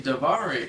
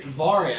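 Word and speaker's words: Daivari: You can go and pronounce that cuz I have no idea who the that is. Davari. Davari.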